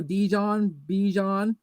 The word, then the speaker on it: Bijan: They're like think Dijon mustard, and there you go, Bijan Robinson.